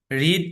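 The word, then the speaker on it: read: আচ্ছা, তো এগুলা রিড, রেড, রেড, লিখতে একই রকম কিন্তু উচ্চারণে পার্থক্য আছে।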